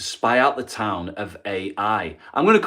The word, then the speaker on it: Ai: out the town of Ai. I'm going to call it Ai. I'm sure it's pronounced I, but I'm going to say Ai because that's how it's spelled, Ai.